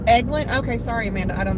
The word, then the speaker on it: Eglin: It's pronounced Eglin. Okay, sorry, Amanda. I don't know all the specific names. Amanda says Eglin has special ops C-130s.